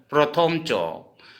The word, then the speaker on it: চ: ठीक है दोस्तों, हिंदी असमिया और हिंदी में असमिया वाला उच्चारण। ठीक है, अब जैसे च, हम इसको पढ़ेंगे च, लेकिन असमिया में पढ़ेंगे चो, प्रथम चो।